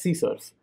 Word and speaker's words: CSRF: cross site request forgery csrf pronounced as c source it requires a token